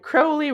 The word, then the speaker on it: Crowley: Gamer Jameside Crowley rhymes with holy.